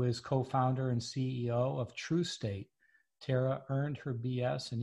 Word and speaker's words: Trustate: And I know that the name of your company is Trustate, but it's spelled like trust, right?